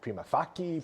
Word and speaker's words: prima facie: So in Latin, a C is always pronounced like a K. Facie. So it's not facie, it's facie.